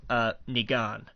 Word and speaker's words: Negan: They have cast the character of Negan, and that's the way I pronounce it. I don't know how anybody else pronounces it. That's the way I make it a long E.